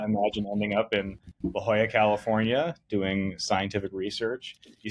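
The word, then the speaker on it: La Jolla: my life did not imagine ending up in La Hoya California doing scientific research you said it correctly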